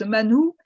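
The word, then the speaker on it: מן הוא: » Donc, dans le désert, le Seigneur donne la manne, mais la manne, en hébreu, ça se prononce manou, et ça veut dire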